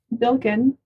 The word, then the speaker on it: Bilkin: So my name is Bilkin. Bilkin. Mm-hmm. Okay. Is that a mononym? Just one? Mhm. Just Bilkin? Just Bilkin. That's good. I like it. Spelled like it sounds for once.